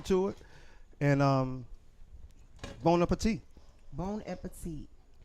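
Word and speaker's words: bon appétit: bon appetit. Not bone and petite.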